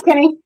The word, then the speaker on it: Kenny: Is it Kenny? Or have I been saying it wrong this whole time? Yeah, that's Kenny.